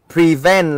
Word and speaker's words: prevent: Thông thường với động từ hai âm tiết, thông thường nhá, động từ hai âm tiết trọng âm sẽ rơi vào âm tiết thứ hai, cho nên là mình